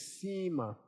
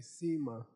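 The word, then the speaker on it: सीमा: Okay, it's a the Tibetan is sam ts a m and the the Sanskrit for sam is sema long i sa. Okay, sema.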